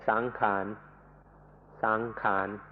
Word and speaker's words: sankhara: remember the Pali word, which is sankhara, sankhara. ในประเทศไทยเราเปลี่ยนเสียงนิดหน่อยเป็นสังขารสังขารในภาษาไทย Thais make it a little easier to pronounce and say sankhan, sankhan. But in English books it will be spelled out sankhara.